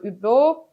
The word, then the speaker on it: Hublot: One of the very few examples was the Hublot watch. So Hublot, or here mostly pronounced Hublot, was the first one who produced a watch with Osmium already in 2014 and 15, two limited editions.